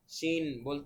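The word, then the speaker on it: شين: তালব্য স এর মত ভারতের অনেক ভাইদের একটু সিন বলতে অসুবিধা হয় অনেক সময় সিন বলে ফেলি কিন্তু এটা হচ্ছে প্র্যাকটিস করে করে শিন বলা শিখতে হবে অবশ্যই কেননা কোরআন তেলাওয়াতের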